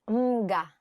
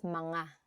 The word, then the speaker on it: mga: Don't say it as mga. Say it as mga.